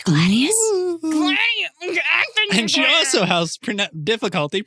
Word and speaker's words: Gladius: She's a swashbuckler wielding dual guns and a Gladys sword that can do either slashing or piercing damage. It's Gladius.